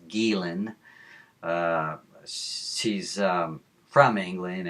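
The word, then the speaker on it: Ghislaine: They pronounce it as Jiz Lane and it's not. It's Gilen.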